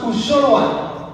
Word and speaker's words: unjoloan: We write unjoloan, but we pronounce uzoloan.